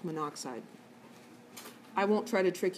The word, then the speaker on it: monoxide: like manuk side it's monooxide but we don't pronounce the O and so we don't write the double O It's monoxide I won't try to